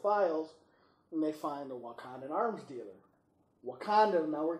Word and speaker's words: Wakanda: Even the way Banner even said it, he mispronounces it the first time. It's Wakanda.